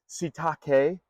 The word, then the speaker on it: Sitake: Kalani Sitake leads the Cougars, their head coach, and that almost sounds dirty. I know. You know, Shiitake.